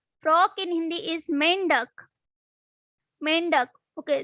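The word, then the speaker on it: मेंढक: Mendak. Okay, this is slightly difficult to you, but we will pronounce like mendak. Mendak.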